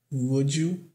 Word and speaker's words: would: Would you. Esse L aqui não é pronunciado mesmo, nem na forma formal da palavra.